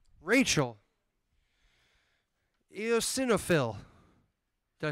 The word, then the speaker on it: eosinophil: give it up for Asher ranoo Rachel eosinophil did I say that right I said it